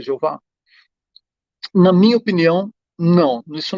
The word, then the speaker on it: Jeová: Não existia esse som de J nem no hebraico, no aramaico, no grego, no latim. Nenhuma dessas línguas tinha o som de J. Por isso, não era possível existir a pronúncia Jeová.